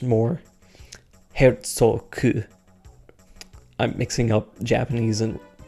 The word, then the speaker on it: Herzog: In Germanic languages, it would be pronounced Herzog, because whenever G's end up at the end of German names, a lot of the time it'll end up having more of a hard C or K sound given to it.